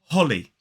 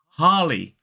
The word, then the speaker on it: Holly: However, the way Bruce Willis actually says this name, it sounds more like Harley. Harley. Which is the same way I would pronounce the first word in the name Harley Davidson. So while he's saying Holly, it sounds more like Harley for me.